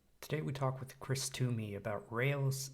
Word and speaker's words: Toomey: guest Chris Tumi is is that how you pronounce it Tumi it is indeed yep oh excellent Perfect all